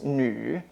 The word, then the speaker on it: 女: So for woman, the pronunciation is nu, 女孩子, nu.